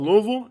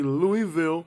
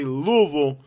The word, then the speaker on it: Louisville: Alright, the first thing you need to know about Louisville is the pronunciation of the city. Yes, some people say Louisville, some people say Louisville. You don't want to say is Louisville. Nobody says that.